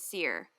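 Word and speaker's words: Sear: Cole's last name is Seer I want to say it's spelled s-e-a-r but it's like a Seer Seer he's seeing his spirits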